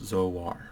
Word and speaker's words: Zoar: are born in a realm known as Zoar pronounced Zoar it's just to be clear it's written down